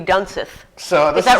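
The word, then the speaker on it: Dunseith: gosh you know what this is german so d-u-n-s-e-i-t-h so that means you have to pronounce it i so it would be done sith so is that right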